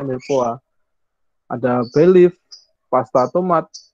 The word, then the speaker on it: mirepoix: Ada mirepoix, ya, tulisannya mirepoix sih, tapi bacanya mirepoix.